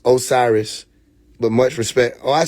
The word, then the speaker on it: Osiris: Originally it is pronounced Osiris but much respect.